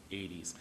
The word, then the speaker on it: Aedes: Aedes. I always spell it because it sounds like I'm saying Hades or 80'S or something else.